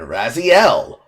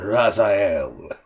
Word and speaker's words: Raziel: The final chapter brings the story saga end of the player conflict between Kane and Raziel, which should be pronounced as Kane and Razael.